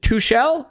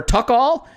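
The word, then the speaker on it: Tuchel: and andy brooke says how do you pronounce t-u-c-h-e-l is it too shell or tuck-all uh we actually have a response to that saying it's two-call and then a response to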